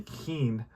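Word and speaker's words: Kuenn: Mays' cleanup today, Keane, and I thank that watcher for correcting my pronunciation of that name. So Harvey Keane, and Cepeda, Davenport, Bailey, and O'Dell, the pitcher.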